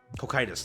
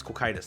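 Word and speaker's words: Cocytus: want to mess it up it's like um coitus there you go it's coitus that's how you say it so I'll never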